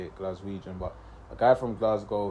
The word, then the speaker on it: Glaswegian: sure that is actually how you say it glaswegian but a guy from Glasgow who actually got